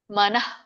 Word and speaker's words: ಮನಃ: ಕೂಡ ಹಾಗೆ ಉಚ್ಚಾರಣೆ ಮಾಡಬೇಕು ಆಕ್ಚುಲಿ ಮನಃ ಇಂದ್ರಿಯಬ್ಯ ಪರಂಮನಃ ಹೀಗೆ ಮಾಡ್ತಾರೆ ಆದರೆ ನಮಗೆ ಕಲಿಯುವರಿಗೆ ಹೀಗೆ ಮನಃ ಅಂತ ಹೇಳಿದಾಗ ಅವರು ಅದನ್ನ ವಿಸರ್ಗ ಬಿಟ್ಟುಬಿಡ್ತಾರೆ ಹ ಉಚ್ಚಾರಣೆ ಮಾಡದೆ ಇರೋ ಕಾರಣ ನಾವು ಪದೇ ಪದೇ ಅದನ್ನ ಹೇಳ್ತೇವೆ ಮನಹ ಅಂತ ಇಂದ್ರಿಯಭ್ಯ ಪರಂಮನಹ